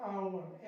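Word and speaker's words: hour: देखिए इसको पढ़ेंगे हम लोग आवर, एच साइलेंट हो जाएगा आवर, honest, ऑनर, एयर, एयर, ऐसे ही ऑनरेबल।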